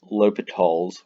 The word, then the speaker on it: L'Hôpital: discuss libtol's rule now sometimes you might see an s between the o and the p that is not pronounced hospital like it appears it is pronounced l'hopital's rule uh l'hopital was a french mathematician